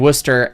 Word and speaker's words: Worcester: about Worcester yes war war Chaser I mean Worcester and lemoner that one makes a little bit